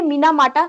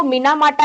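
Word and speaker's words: Minamata: जाता है कि वो मीना माटा है मिनी माटा है ठीक है तो अलग-अलग आपको ये स्पेलिंग्स दी होती है तो आपको दिस इज नॉट मिनी माटा दिस इज मिना माटा ठीक है तो ये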